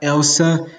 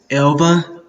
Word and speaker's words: Elba: main character's name wrong it's not Elsa best Elba yeah one little mistake I'm so sorry about